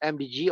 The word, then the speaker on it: AMDG: That's pronounced as MDG, although it's AMDG.